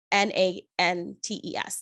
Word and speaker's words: Nantes: Nantes. That's how you spell it.